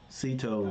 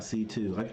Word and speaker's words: Cito: little c two nuts sito not c2 i got you lucito